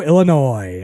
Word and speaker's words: Illinois: that is in Chicago Illinois of course is it Illinois or Illinois should I say the S at the end Illinois I don't think it's noise Illinois I think the S is silent anyway any uh anybody